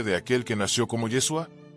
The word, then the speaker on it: Yeshua: Intenta pronunciarlo despacio. Yeshua. Siente como se forman las sílabas en tu boca, como el sonido vibra de manera diferente a Jesús.